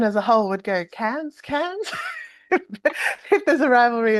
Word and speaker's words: Cairns: Cairns, yes.